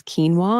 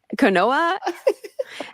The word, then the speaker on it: quinoa: years ago was when people didn't know how to pronounce quinoa and they were saying koa.